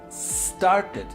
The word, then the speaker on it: started: Pronunciation, started. No digo started. No le agregamos la E aquí. Decimos started.